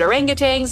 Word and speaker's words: orangutangs: and if you want to help critically endangered orangutangs yes that's how you say it already under